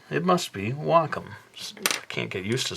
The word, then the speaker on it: Wacom: day I actually did buy a uh tablet Wacom I believe the company is pronounced I always thought it was wum but